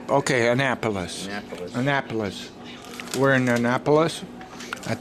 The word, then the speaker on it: Annapolis: Annapolis. You got to put a nap in there. Okay, Annapolis.